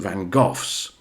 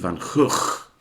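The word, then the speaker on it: Van Gogh: Now then we come to two Vincent Van Gooffs or as it's supposed to be pronounced I think Vincent Van Hook.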